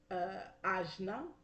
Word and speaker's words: Ajna: We have the third eye chakra, which is pronounced Ajna, with the whole Eastern Indian situation.